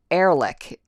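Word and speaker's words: Ehrlich: he and 23 SKU says he pronounces it Erick so Paul Arc that's easier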